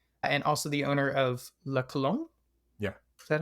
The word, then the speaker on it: La Colombe: And that is Hamdi Ulukaya, who you may know as the founder and CEO of Chobani and also the owner of La Colombe.